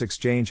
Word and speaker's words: exchange: Phonetic Alphabet to pronounce exchange have in mind that the size of the syllable indicates where the accent or stress is in this case the accent is in the second syllable corresponding to shine low